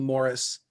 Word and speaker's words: Maurice: or not but fd morris um who wrote in the mid-century last century its last name looks like it's written maurice but it's pronounced fd morris and he he was